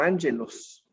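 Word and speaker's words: ἄγγελος: en griego, mensajero, te das cuenta que se pronuncia como ángelos.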